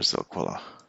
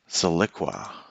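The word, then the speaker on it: Zilliqa: zone right here for Zilquilla. What is the name of that? I have the impression that I'm not saying it right, so let's correct that right away. Ziliqua.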